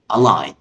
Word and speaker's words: align: الكلمه اللي بعد كده ودي كلمه متقدمه شويه وفيها حرف صامت خد بالك منه وهي align. يبقى هنا الجي ما بتتنطقش align.